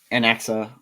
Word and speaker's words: anax: So this is the Allosaurus Anaxa that we are Anax that we are referring to. I pronounce that three different ways, but it's Allosaurus Anax.